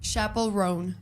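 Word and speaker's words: Chappell Roan: Chappel Ron.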